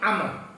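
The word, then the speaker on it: عمرو: Tapi kalau Amr bin As atau Amr bin Mas'ud itu berarti ada wawunya. Maka kadang-kadang juga disebut Amru bin Mas'ud. Mestinya bacanya Amr.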